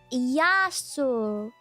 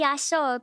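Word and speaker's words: Γειά σου: Pronounce it yaso. This phrase is best suited for informally saying hello to one person. Say yaso, pronounce it yaso.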